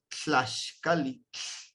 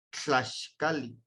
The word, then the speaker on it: Tlaxcali: que tenga con TL, es Tlaxcali, Tlaxcali. Sacamos el aire a los lados para pronunciar el TL.